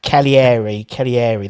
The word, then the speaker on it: Cagliari: It's pronounced Cagliari. There we go. But it's got a G in it.